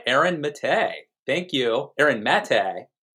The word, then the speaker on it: Maté: Aaron Maté, pronounced correctly.